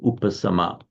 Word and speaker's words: upasama: Upa means up, and so upasama. Same in Pali, just a sa instead of a sha.